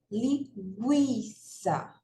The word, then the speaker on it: linguiça: Linguiça. Linguiça. Então, veja que eu pronuncio o I com mais força do que o U. Então, o U é semivogal e o I é vogal, certo?